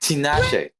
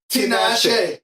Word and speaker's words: Tinashe: I mean, it's say pronounced Tinashe. Tinashe.